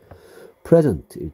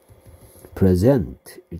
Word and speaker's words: present: 그러니까 이거를 제1강세라고 해. 이게 첫 번째이기 때문에 제1강세, 여기 강세가 올 때는 제2강세라고 하는데, 제1강세일 때 present일 때이 뜻이고요. 제2강세일 때 present일 때는 이 뜻이다. 그래서 발음에 따라서 뜻이 달라지는 그런 단어입니다.